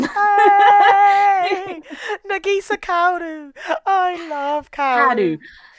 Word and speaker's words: Kaoru: I love Kaoru. See, now the way that it's spelled is nothing like the way it's said.